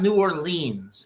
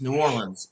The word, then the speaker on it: New Orleans: talk about New Orleans it's not New Orleans it's New Orleans pronounce it right yes